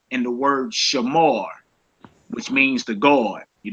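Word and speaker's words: שמר: So some people say Shamara. And I ain't in the rolling my R's. Now, if y'all want to roll your R's, go ahead. That's what's up. You know what I'm saying? But I just say Shamar. I don't do all the extra R with my tongue and all that crazy.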